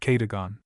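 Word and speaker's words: Cadogan: Improbable as it may appear, my housekeeper was called Kadugan, a name made locally possible by being pronounced Kagon.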